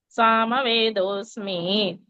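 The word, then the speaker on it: सामवेदोऽस्मि: वेदानां Sama वस्मि is wrong. Sama Vedosmi.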